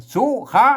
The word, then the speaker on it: สุข: ตัว ซะ ไม่ กุ๊ อ่าน ว่า สุ นะ ครับ สุ อื ตัว คะ อัน นี้ ตัว คะ นะ ครับ อ่าน ว่า คะ อ่า สุคะ นะ ครับ สุ สุคะ อ่าน ที ละ ตัว นะ ครับ ไม่ ใช่ สุข นะ ครับ อ่า สุข นี่ มัน เป็น ภาษา อ่าน ปัจจุบัน น่ะ อ่าน เป็น บาลี นะ